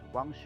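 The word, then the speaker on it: Huang He: this is pronounced as wangshi river according to the chinese pronunciation or it is also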